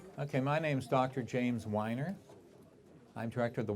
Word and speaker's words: Weiner: James Weiner. I'm director of the Weiner Wellness Center. Weiner is spelled with 5 letters, W-I-N-E-R, like wine that people drink, with an R at the end.